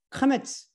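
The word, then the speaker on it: קמץ: 그 왼쪽에 영어 대문자 T자 모양 것도 동그라미를 제가 쳐놨는데 카메츠, 어떤 사람은 카마츠라고 발음해요. 아까 그 사람은 카마츠라고 발음하잖아요. 카메츠라고 부르며 아 발음을 표시합니다.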